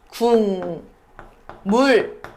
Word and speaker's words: 국물: 여기 국물 닿는 반물이 있는데요 기억은 뭘로 바뀐다? 미음으로 바뀐다. 그러면 어떻게 된다? 궁 물 요렇게 바뀌는 거죠.